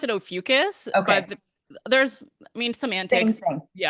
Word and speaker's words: Ophiuchus: there I pronounce it Ophiuchus, Okay.